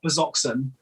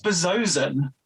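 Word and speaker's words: Bazzoxan: Because it turns out it is not Bazoxen as it is spelled. It is Bazozen.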